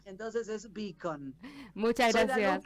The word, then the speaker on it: Beacon: Ah, mi apellido se pronuncia beacon. Porque sí, porque quiere decir faro. Mucha gente me dice bacon, como si fuera panceta, pero se escribe sin la e. Mi apellido se escribe con la e.